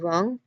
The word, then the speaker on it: wrong: Though some people do pronounce the T in often, like often, but it's also not pronounced at some with other people. And finally, silent W in words like right and wrong.